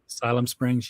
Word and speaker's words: Siloam Springs: one i went to i don't know how to pronounce this but siloam springs asylum springs yes yes and that neither this